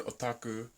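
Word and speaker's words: オタク: So, first of all, in Japan, the word otaku, there we go, that's my Japanese pronunciation, I'm very cool, aren't I?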